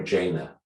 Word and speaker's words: Jana: Do you say Jana or Jana? Jana. Easy way to remember, it rhymes with my middle name, Anna Jana.